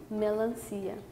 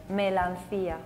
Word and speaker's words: melancia: in portuguese we say melanchia melancia sounds like melon but with a feminine touch that's what it is